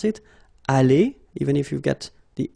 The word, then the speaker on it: allé: Aller, even if you've got the s. Aller, even if you've got this es. Okay, so doesn't change.